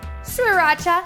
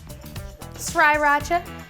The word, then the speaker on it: Sriracha: So I've got my soy sauce here, sesame oil, Sriracha, that's how you say it, Sriracha, some ground ginger.